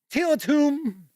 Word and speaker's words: Tiletum: to the other camera because here I have till it's whom and I know how to pronounce that word and I know what that